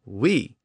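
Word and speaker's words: oui: langua doil of course oil eventually lost that l sound at the end and it just became o and then it lost the o sound at the beginning and it just became we but it retained that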